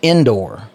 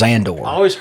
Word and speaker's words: Andor: was asking you about, it's called Andor. And you said it's pronounced Endor. Well, there is a planet in Star Wars called Endor, and they call it Endor. Okay, well, this is Andor.